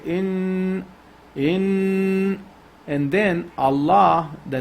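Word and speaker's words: الله: So if the name of Allah, the letter before name of Allah has a fatha or dhamma, we pronounce it with tafkhim. But if it has a kasra, we read it with tarqiq. So since this noon has a fatha, we read this heavy.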